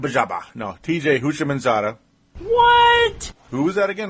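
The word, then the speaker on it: Houshmandzadeh: who replaced uh TJ H Baba no TJ husham manada What who was that again how do you say his name yeah TJ hman Zada yeah okay I know I'm not funny but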